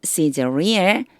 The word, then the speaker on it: Caesarea: At Caesarea, 요거 시즈리아라고 읽는다고 앞에서 나왔었어요.